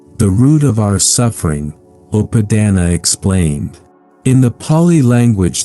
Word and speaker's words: Upādāna: 1: Understanding Attachment, the root of our suffering, Upādāna explained. In the Pali language that the Buddha spoke, there is a word that describes the very heart of human suffering. The word is Upādāna. It is pronounced Upādāna, and it means clinging, grasping, or attachment.